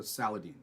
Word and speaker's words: Saladin: He told me it rhymes with Halloween, so Saladin.